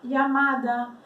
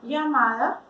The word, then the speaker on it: llamada: Como a gente pronuncia esse LL? Antigamente, o LL era uma letra, era conhecida como doble L ou L, vale? Pero la RAE, Real Academia Espanhola, tirou essa letra do alfabeto espanhol e considerou a união de dois L's, tá? Então a gente pode pronunciar de formas diferentes, vai depender do país, da região, da cidade, tá bom? Então pode ter esse som, llamada, llamada, como se fosse um iai, llamada, chamada, também uma